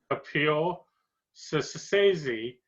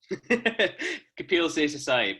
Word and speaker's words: Kapil Seshasayee: So our special guest is art rock musician, Kapil Seshasayee. Did I pronounce that right? Or? Kapil Seshasayee, but valiant attempt.